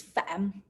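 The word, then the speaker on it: Pham: like lee yeah and the fourth one is fam it's kind of easy to pronounce like fam yeah when you you just need to say fam and they will understand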